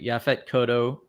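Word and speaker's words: Yaphet Kotto: the cast um because uh it was a yaphet kodo um I know I'm saying that name wrong uh you got it right oh I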